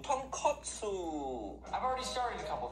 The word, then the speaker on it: tonkotsu: pop that completely different thing say it properly tonkotsu tonkotsu i've already started a couple things so for